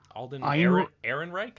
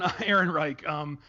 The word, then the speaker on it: Ehrenreich: There's also some stuff about I can never pronounce his name. Alden Ehrenreich, I think. Sure, that sounds right. Alden Ehrenreich.